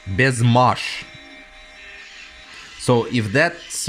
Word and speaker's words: Baise Ma Hache: yeah is this one a lot of people say it like uh Bass mahash when I tried to Google Translate it and listen to the actual you know the sound it says best best Mash so if that's right